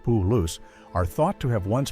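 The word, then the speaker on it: Palouse: The Paloo or Palace, both pronounced Puloo, are thought to have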